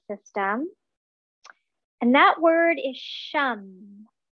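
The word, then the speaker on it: sham: quieting the nervous system and that word is shum it's spelled s-h-a-m but pronounced more like a soft you shum so inhale softly into the belly exhale shum in your mind it's a mantra given by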